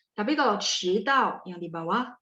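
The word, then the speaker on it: 迟到: Kalau 迟到, d baca t ya.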